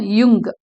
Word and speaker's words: Jung: Okay, we pronounce him as curl யுங். Yeah sound வரும்.